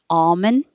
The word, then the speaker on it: almond: hold it oat milk americans usually don't pronounce the l in almond you can you'll hear almond you're hurt you might hear almond but almond is pretty standard almond